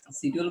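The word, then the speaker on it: schedule: Door and window শিডিউল লাগে, শিডিউল বলে স্কেডিউলও বলে, ঠিক আছে? এটা দুই রকম উচ্চারণ করে।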